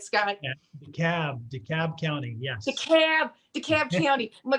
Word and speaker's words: DeKalb: Am I pronouncing that right, Scott? Yeah, DeKalb County, yes.